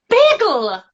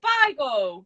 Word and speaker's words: bagel: It's like you're about to say Bible. Bagel. Bagel. Like, imagine it's spelled Bagel. I like a Bible and a seagull.